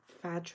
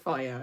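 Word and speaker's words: Fage: But everyone calls it, is it Fadge or Varge? But it's called Faya, I think is the proper pronunciation.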